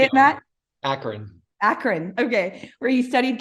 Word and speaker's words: Akron: that correctly how do you say it Matt Akron Akron okay where he studied chemical engineering and